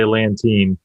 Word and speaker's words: Lantain: to say it, but we just say Lantain. Lantain. Okay, cool. Rhymes with canteen.